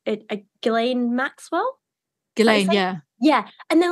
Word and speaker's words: Ghislaine: Ghislaine, yeah.